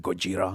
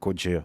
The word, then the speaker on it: Gojira: they took Godzilla, and you know how they said Gojira, and they're like, well, we know You just Gojira. pronounced it in French, and now it's a metal band. Gojira.